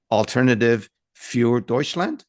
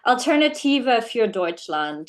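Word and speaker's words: Alternative für Deutschland: about the afd and please correct my pronunciation alternative F deuts did I say it closely alternativa F deut land there you go yeah afd um the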